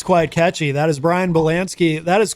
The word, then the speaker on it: Bielanski: But the way I was saying it, Bielanski is actually the, yeah, that's how you say it correctly in Poland, and it is a Polish name. So I'm doing the Midwestern Americanized accent version.